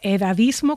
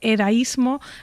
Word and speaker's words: edadismo: Se dice edadismo con 2 Ds, no se dice edaísmo, tampoco, aunque se dijo en